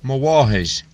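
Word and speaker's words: mo mháthair: Mawahish. Notice that the initial consonant is pronounced more like W or V, rather than a bilabial nasal M sound.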